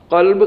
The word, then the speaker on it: قلب: بالکل صحیح ہونا چاہیے۔ عموماً لوگ تلفظ صحیح نہیں ادا کرتے، مثال کے طور پر قلب، قاف لام با، قلب قاف دو نقطے والا، اس کا مطلب ہے دل، اور ایک ہے کاف